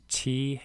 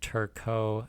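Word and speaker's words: Turcot: features for turco syndrome that's t-u-r-c-o-t i think it's pronounced turco what are the classic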